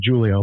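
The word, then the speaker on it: Júlio: So in the Portuguese language, the J is pronounced as a J. So it's Julio in the Spanish language, and it's as an H, as in Julio. Yes. So, but because I'm Portuguese, it's officially Julio.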